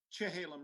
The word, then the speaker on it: Chehalem: bike terrain, and the Chehalem Ridge is actually, it's pronounced Cha, because that's the Kalapuyan pronunciation, unlike our soft Sha.